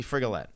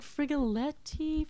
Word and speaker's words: Frigolette: Oh, can you pronounce your last name for me? Me right now. You're actually asking me Frigolette. Okay, so Frigolette.